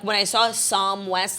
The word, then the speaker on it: Psalm: Psalm. No, it's like balm.